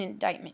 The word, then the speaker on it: indictment: all right so an indictment here please notice that the C is silent don't say that this